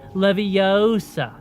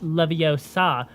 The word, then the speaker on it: Leviosa: It's Leviosa, not Leviosa. Well, actually, if you really wanted to pronounce it right, it would be Leviosa.